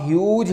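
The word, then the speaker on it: huge: ह्यूज word में H pronounce हो रहा है, इसलिए इंडेफिनिट आर्टिकल ए इसके साथ प्लेस किया जाएगा और ये बिल्कुल ठीक है।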